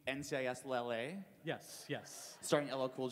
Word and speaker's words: NCIS LA: How is Nikislaw? Sorry, what? I don't know if I'm pronouncing it right. Nikislaw. Oh, you mean NCIS LA?